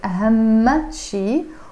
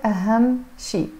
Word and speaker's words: أهم شيء: You can pronounce it as أهم شيء or أهم شيء.